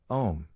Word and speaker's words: Om: In other words, it should sound like a long, drawn-out version of the word home without pronouncing the H.